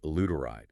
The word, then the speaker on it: L. reuteri: This is more about creating the right environment for beneficial bacteria to thrive, particularly one called L. reuteri, pronounced luteride. L. reuteri.